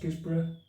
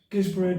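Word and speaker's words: Guisborough: to gizbar sorry uh I think it's called pronounced gizbar got a B&B there no is it it's above a pub gizbro down to OS motherly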